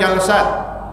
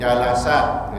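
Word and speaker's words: جلسات: Ada jalsat, ada jalasat, boleh dua kata ulama. Ya, tapi yang paling sahih bacanya bil fathi jalasat gitu. Ya. Di sini dikatakan bi fathil lam afsah, lebih fasih. Ya, qiraah yang fasih itu jalasat, jamak daripada jalsatun, jalsatani, jalasat.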